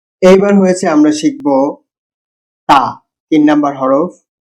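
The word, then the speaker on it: ت: উচ্চারণ হয় জীবের ডগা উপরের দাঁতের মাঝখান দিয়ে এই হরফটা একদম সফট সাউন্ড সাউন্ড একদমই পাতলা হবে একদমই সফট হবে তাকে কি বলা হয় তা এটা বার মতই বা নিচে একটা ডট আর তার উপরের দুইটা ডট মনে রাখবেন বা নিচে হচ্ছে ডট দেখছে একদম বার মতো কিন্তু তার উপরে দুইটা ডট তাকে কি বলে তা তা জীবের ডগা উপরের দাঁতের মা তা তা আপনিও পড়ুন এবার আমরা শিখবো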